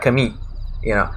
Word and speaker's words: Camille: It's because in French it has a Y instead of an L sound. Because French is Camille.